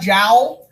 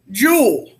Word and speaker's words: Joule: called a Joule okay it looks a little bit like jowl but we don't pronounce a Joule this is